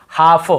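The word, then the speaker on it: half: जैसे का काफ काफ हाफ हाफ काफ हाफ एल को यहां पे नहीं पढ़ना है काफ हाल्फ नहीं पढ़ना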